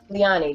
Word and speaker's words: Liani: thank you for joining us Elizabeth thank you leani did I pronounce it correctly yeah that's right okay thank